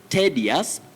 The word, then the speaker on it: tedious: Dalmas Nyaosi was asking me, Willis, do we say tedious or tedious? We say T, not te. Tedious. The spelling is T-E-D-I-O-U-S, but don't say tedious. You say tedious.